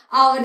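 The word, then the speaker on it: hour: आवर जैसा कि हमने देखा एच लेटर से स्टार्ट हो रहा है। लेकिन एच उसमें साइलेंट है।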